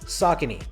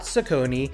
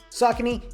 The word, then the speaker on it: Saucony: for starters it's pronounced saucony not saucony not succiny it's sock and e sock saucony it's an american brand